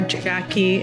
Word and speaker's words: Jacquie: email for everyone that works here and or Jackie my name is spelled weird it's j a c q IE